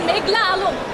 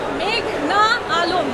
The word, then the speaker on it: মেঘনা আলম: আদালতে এসে শুনি পিপি বলছেন মেঘলা আলম। আমার নাম মেঘনা আলম।